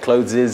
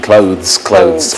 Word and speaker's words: clothes: And a small pronunciation error with the clothes. She said clothes and it should be clothes. I think that's a very common pronunciation error in Vietnam.